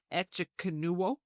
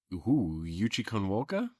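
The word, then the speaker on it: Echikunwoke: Echikanuwoka? Whoa. Oh, yeah, show me. Megalyn Yuchikonwoka?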